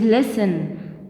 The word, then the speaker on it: listen: word listen it is listen not listen because t is silent here and it is walk